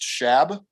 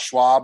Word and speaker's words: Shab: My last name is pronounced Shab. So for all of you who are wondering, it's not Schwab, it's not Schab, it's Shab.